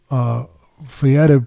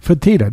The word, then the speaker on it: Fertitta: UFC really, with the Fietta brothers. I always mispronounce their name. It's okay. They're in line with everyone. Fertitta. There you go.